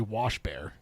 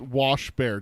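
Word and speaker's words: Waschbär: Which It's literally pronounced like it's wash bear. WACHBA with the 2 dots over it R. Washbar. Yeah, Washbar. So it sounds like Swedish are the same way because shield toad.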